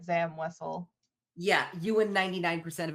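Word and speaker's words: Zam Wesell: No, but I've always said Zam Wessel.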